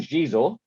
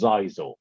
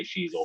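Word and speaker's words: Xizor: For years, I thought his name was Zizor. Until the internet came along and you actually see how people's names, or hear how people's names are pronounced. I literally pronounced it wrong in my head for 10 years. So I can't guarantee I'm going to say Shizor forever.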